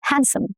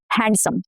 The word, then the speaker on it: handsome: Handsome, not handsome. No, handsome. Sandwich, not sandwich.